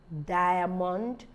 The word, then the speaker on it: diamond: are not pronounced diamond diamond is just the eye that has the I sound the a is not pronounced if the area to be pronounced maybe it would have taken the special sound we call the schwa sound inverted e e written downward so it would have been diamond diamond no so it can't it won't be that so we have bum